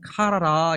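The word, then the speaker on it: קרה: 살펴 볼 필요가 있는데 그 히브리어 동사 원형 은 카라라 이렇게 발음을 해요 근데 이 카라 란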